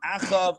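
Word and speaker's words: אחאב: So I think in the English it's pronounced Jeroboam, Ahab, and Manasseh. However, it's Yeravam, Achav, and Manasseh in the Hebrew.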